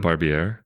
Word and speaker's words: Barbier: Barbier did a game. Was it Barbie?